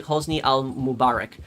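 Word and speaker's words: Hosni al-Mubarak: Hosny Hosni al- Mubarak.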